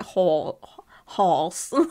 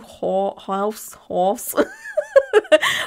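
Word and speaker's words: Haus: Is it house or is it horse? Like, Tattoo Horse. House? Horse? I sound like I'm saying horse. I'm not. But it's H-A-U-S.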